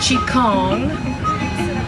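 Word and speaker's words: qigong: term is vital and Qi Gong sometimes pronounced Chaconne is the science of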